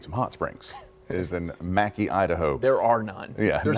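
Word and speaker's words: Mackay: And then we said it wrong. It's actually Mackie.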